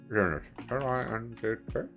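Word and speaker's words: Lindt: But do our American listeners have Lint over there? LIDNT? How do you pronounce it again? How do you spell it? Gosh, I love L-I-N-T-T.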